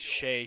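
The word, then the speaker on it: Seyi: Yes, that is pronounced Shea. His name's spelled S-E-Y-I, but he goes by Shea Soyebo.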